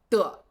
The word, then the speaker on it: 得: 所以发音声音就会小一些 So, in terms of pronunciation, it's less emphasized, 听起来就是“的”这个音 and it sounds like 'de'.